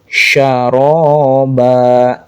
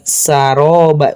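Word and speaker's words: شرابا: Syaroba bukan saroba bukan juga tsaroba tapi syaroba. Nah, nama sifatnya tafasyi.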